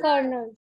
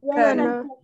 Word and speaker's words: colonel: You need to tell me how is this word pronounced, okay? Yeah. Ma'am, Colonel? Very good. Colonel. Very good. Colonel.